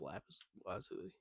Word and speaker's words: lapis lazuli: 3 pieces of lapis, or 3 blocks of lapis ore, gave us 23 pieces of lapis lazuli.